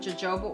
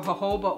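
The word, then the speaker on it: jojoba: then I take some Jobo oil or hoba oil so many of you have corrected me on that it's just easier to say Joba that's why I'll add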